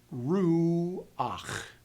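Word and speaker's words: רוּחַ: to produce the guttural, they will put in a transition vowel to help you move from the front to the back, like this word, ruach. U is at the front, but the chet is at the back.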